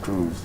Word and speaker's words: Cruz: man uh who uh cruz um pronounced crews okay okay cruise yes